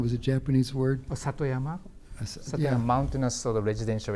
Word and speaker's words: Satoyama: and I'm going to slaughter the pronunciation. It was a Japanese word. Satoyama? Satoyama, Yeah.